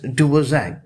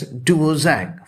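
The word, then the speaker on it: Dvořák: is spelled as o r dvorak k but pronounced as duo zack she is the 80 and odd year old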